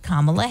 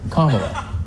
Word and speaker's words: Kamala: And finally, in what surely comes as a heartbreaking disappointment to Donald Trump, Insane Clown Posse's Violent J has endorsed Kamala Harris for president.